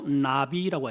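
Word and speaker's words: נביא: 여기 선지자나 선견자라고 하는 그 원어를 히브리 말로 나비라고 해요. 나비. 호랑나비, 나비가 아니고 그냥 발음이 나비예요.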